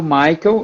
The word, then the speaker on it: Maikel: da gente falar da vespa vamos falar do Michael e eu espero que esteja pronunciando teu nome certo Ah sim então tá